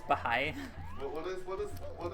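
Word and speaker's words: Bahá'í: pronounces the correct it's pronounced the high apparently which is a lot simpler than I it's it's Bahai what is what is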